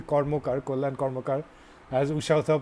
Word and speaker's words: Karmakar: pronouncing it right, though my surname is Karmakar, I'm actually Bengali, so it's actually Kormokar, Kollan Kormokar, as Usha Uthap was reminding me recently in a chat with Tara Deshpande.